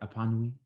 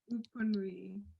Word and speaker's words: Epanui: Did I say it right? Epanui? I might have butchered that. It's Upanui.